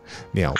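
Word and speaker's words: 蔦: 那个是念鸟吗？我也不知道，这个字到底要怎么念？管他，发音我要来查，是念鸟没错，鸟屋书店。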